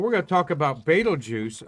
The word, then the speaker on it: Betelgeuse: going to talk about betelgeuse up there pronounced beetlejuice translating in arabic armpit